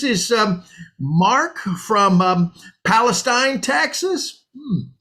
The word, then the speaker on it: Palestine: tonight mark great zeke but actually it's palestine oh well excuse me palestine so we're going with the hoity-toity pronunciation now are we well actually it's a good old texas pronunciation it's been that way